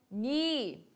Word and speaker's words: knee: Knee. Knee. Os nossos joelhos. Presta atenção que esse K aqui, ele não é pronunciado.